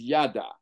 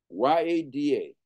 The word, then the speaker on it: yada: One word is yada, y-a-d-a, yada. Now, there is a y-a-d-a-h, which is different. They're pronounced the same way, but they're not the same.